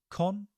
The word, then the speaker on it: consciously: Consciously. So con, it's quite an easy bit. Shus, almost like we are telling somebody to be quiet in a library. Shh, shh, consciously.